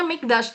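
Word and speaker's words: מקדש: Ini bacanya Mikdash.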